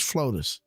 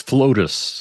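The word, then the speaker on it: FLOTUS: Or is this floatus? Um, it's Flootus.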